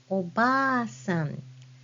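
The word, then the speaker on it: おばあさん: sound so for example if I say the word grandmother in Japanese that's obasan can you spell that word obasan it should be spelled like this with double a sound you use hiana a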